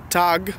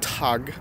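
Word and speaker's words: tak: then check is donkey danish is tag or talk but it's pronounced tog Duchess dunk you or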